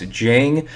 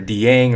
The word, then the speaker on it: Dieng: for the record guys his last name is pronounced jiang it is not dang or dieng or anything like that it's simply jane so